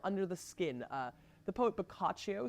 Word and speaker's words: Boccaccio: But just for the audience, if you want to know, Boccaccio. Boccaccio. So the I is not pronounced. It basically functions like the word fruit and the word friend in English.